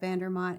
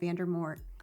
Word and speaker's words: Vandermont: I think the funniest thing, and it wasn't supposed to be funny, but when Tyler was at Vandermont and he kept calling it Vandermort.